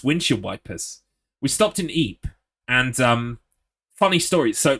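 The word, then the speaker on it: Ypres: on a school trip I went to um Eep right for anyone who doesn't know Eep is spelled like wipers the America the English called it wipers in World War one because you know [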